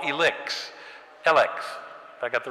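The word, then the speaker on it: ELEKS: Elix. Have I got the right pronunciation?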